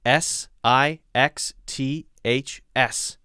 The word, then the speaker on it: sixths: an s after it s i x t h s how do you say that sixth and then sixths i mess it up too sixths sixths break it up into six it's hard to say